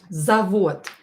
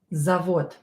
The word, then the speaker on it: завод: with a long leg, завод. Завод is a factory. Factory. Завод, factory. Завод. Завод. And here D at the end is pronounced as T, завод, because D is